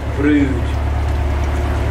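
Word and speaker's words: Brewood: we're continuing down towards a place called Brewd, but it's spelled Brewd, B-R-E-W-O-O-D, and we'll probably be mooring just past that at some point later today.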